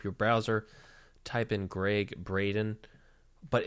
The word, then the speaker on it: Braden: browser type in Gregg Braden but it's spelled like bradden not Braden like b ra de in but I guess he pronounces it wrong I don't know but